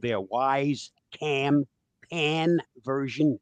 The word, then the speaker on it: Wyze: Bob, tell us about your Wise camera. Well, at my age, I'm also a wise person, and that's spelled WYZE.